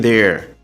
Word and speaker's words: there: So when you're standing there. Cuidado com a pronúncia do there. Tem que colocar a língua entre os dentes.